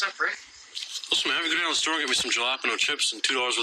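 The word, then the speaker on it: jalapeño: are you guys talking about jalapeno that's how you pronounce I don't want to pronounce this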